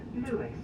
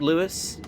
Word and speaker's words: Lewes: Next up, Lewis. And I know it looks as though it should be pronounced Lewes, but it's Lewis, actually. Yeah.